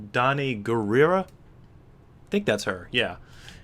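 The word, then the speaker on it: Danai Gurira: yeah is is that I believe her name is pronounced Don gerera I think that's her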